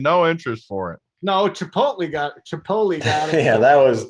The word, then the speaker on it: Chipotle: i say chipotle and you got it it's chipotle that's how you say it you know kay